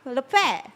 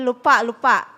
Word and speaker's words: Lurpak: Pronounce LURPAK. Kita betul, kita selalu panggil lupak. So dia punya ni sebenarnya LURPAK kan.